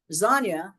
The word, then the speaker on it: Zonya: So remember, Zonya does rhyme with lasagna, so I didn't make that up.